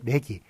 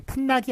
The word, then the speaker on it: 내기: 얘의 내기, 서울 내기, 시골 내기, 신출 내기, 풋내기 할 때 내기, 풋낙이 아닙니다. 내기는 이역행동화, 원래 낙이겠죠? 낙이었습니다만 그 기의 이가 앞에 있는 나에 영향을 미쳐가지고 내기로 그렇게 발음하게 됐는데 하여간 그거를 그 표준으로 삼기로 하였습니다.